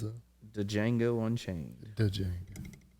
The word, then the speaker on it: Django: The Django. The D is silent.